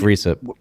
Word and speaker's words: Recep: first name risa erdogan i can't pronounce i think it's recep recep erdogan who's the president